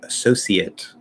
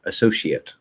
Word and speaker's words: associate: that doesn't work um so that c can either be an s sound or an sh sound we use both of them i'm pretty sure british people would use the sh one um and then if